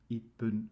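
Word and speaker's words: 一分: So when there are two syllables in the minute, like in ichi and in roku and hachi, you only pronounce the first syllable and it's with pun, right? So it's ipun 1 minute, roku is ropun, and hachi is hapun, and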